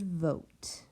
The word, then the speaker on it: vote: And that O is saying its name because of that silent E. I see my pattern. 1 vowel, 1 consonant, and a silent E at the end.